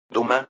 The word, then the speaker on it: Duma: Duma, una pronunciación que de alguna manera recordaba a Dumas, pero en realidad significa parlamento.